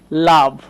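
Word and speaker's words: love: আবার ধরেন বলতে পারি লাভ। খেয়াল করেন ও লেটারকে আমরা আ উচ্চারণ করছি।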